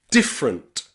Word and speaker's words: different: Remember, if you're speaking more slowly, you can pronounce the letter E. Different, interest, and camera. But when you're speaking really quickly outside, you don't need the letter E. Camera, interest, different.